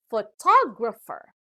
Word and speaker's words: photographer: has four syllables and the stress is given to the second syllable this time so it is pronounced as photographer now the third word